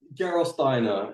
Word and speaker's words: Gerolsteiner: Can you pronounce that for me? Gerolsteiner.